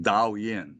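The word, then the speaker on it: 導引: Do-in is a Japanese term. It is actually derived from the Chinese. They called it Dao Yin. That was the Chinese pronunciation.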